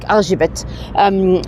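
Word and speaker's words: Erzsébet: We're talking about Elizabeth Bathory, or as she's known here, Argibet. Elizabeth, it's spelled, when they say it, it sounds like Argibet. So Argibet Bathory, she, let me show you another statue as we're here.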